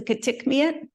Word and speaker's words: Kitikmeot: To the west is the Kitikmeot, and in the middle is the Kavalik.